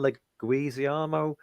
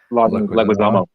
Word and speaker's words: Leguizamo: You pronounce it. John Leguizamo. Leguizamo.